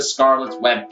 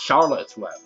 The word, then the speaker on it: Charlotte's Web: Yeah, and also this is not the Scarlet's Web pig. Anyway, it's pronounced Charlotte's Web.